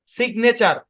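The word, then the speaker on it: signature: যেমন স্যারকে ভয়েস দিবেন আলাদা সিলেবলে জি এন দুটোই উচ্চারিত হবে যেমন এস আই জি সিগ এন এ নে টি ইউ আর ই চার সিগনেচার মানে ভেঙ্গে ভেঙ্গে পড়বেন সিগনে চার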